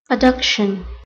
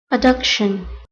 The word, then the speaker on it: adduction: called adduction all right let's listen to the pronunciation adduction adduction now page 60 we have anna this is